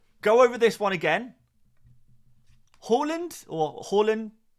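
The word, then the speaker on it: Haaland: over this one again Halland or Holland it's kind of soft D at the end there is the Norwegian pronunciation of earling Harland Harland is a a kind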